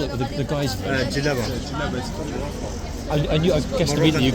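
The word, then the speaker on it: djellaba: Jalaba.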